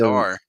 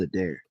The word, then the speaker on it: Adair: That Here's and a old whole Jerry bunch of Adar. He struck out his it's first time up. it's pronounced Adair. Adair. Okay, thank you, Adair.